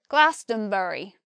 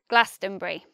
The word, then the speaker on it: Glastonbury: And I believe in a West Country accent, people might say Glastonbury. Glastonbury. They'll say it with four syllables. But for me, the most natural pronunciation is Glastonbury.